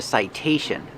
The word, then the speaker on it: citation: Citation, the T makes a T sound because it's before the stressed vowel.